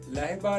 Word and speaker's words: Laiba: लहबा नाम का स्पेलिंग है LAIBA, लहबा।